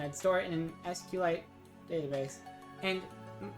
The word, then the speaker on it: SQLite: an SQLite database, and people keep telling me, they say, no, you pronounce it SQLite, but I don't. I don't like it. There's an S and there's a Q, so I pronounce SQLite. SQLite, but then other people will say SQLite, and it's up to them really.